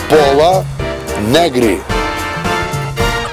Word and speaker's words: Пола Негри: Пола Нагри. Пола Негра. Пола Негри? Пола Негри. Пол Негри. Учимся говорить правильно. Пола Негри.